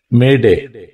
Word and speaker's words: Mayday: of the word Mayday m y da y Mayday it shall be pronounced as the French expression maer m a